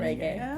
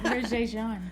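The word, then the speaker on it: Regé-Jean: It's spelled R-E-G, but it's pronounced Is it Reggae. Yeah. I thought it was Roger Jean.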